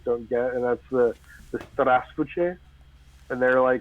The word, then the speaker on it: Здравствуйте: English speakers don't get, and that's the straspuche. And they're Здравствуйте. like Yeah. they're like three little syllables in there that we always miss because we're not thinking about like micro syllables within the syllables.